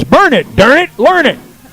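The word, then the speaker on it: Burnet: Burn it.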